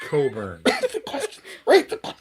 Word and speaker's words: Cockburn: It's pronounced Coburn.